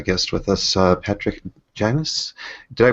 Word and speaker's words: Janis: I have a guest with us uh Patrick Janis did I pronounce that right Patrick yeah yeah you pronounced